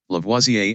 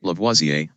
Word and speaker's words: Lavoisier: in print but not allowed in a while lavoisier and joseph bruce yeah lavoisier a french chemist lavoisier antoine lavoisier and joseph proust so lavoisier he was a french chemist he had proposed